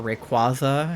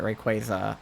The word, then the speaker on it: Rayquaza: the plot is they find a Shiny Rayquaza or Rayquaza however we're supposed to pronounce it they're pronouncing it Rayquaza I had been pronouncing it Rayquaza prior to that but um they they